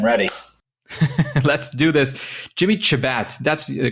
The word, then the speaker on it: Chebat: engage i am ready let's do this jimmy chabat that's the correct pronunciation is that decent at least uh it's close shabbat is shabbat yes okay that makes sense jimmy